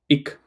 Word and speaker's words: ich: They will not say ish, they will say ik, or they will say ik. Don't fight with them. Anybody can pronounce whichever they want. But if you want to pass the exam, go with ish.